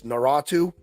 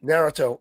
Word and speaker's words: Naruto: you're into like uh I'm gonna botch this naratu is that how you say it narut yeah Naruto if you're into them in Dragon Ball Z